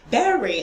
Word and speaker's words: berry: Okay, so it's not bury. No, it is berry. In as much as we have the U there, it's not like U. It's not pronounced bury. It's pronounced berry, like it's E.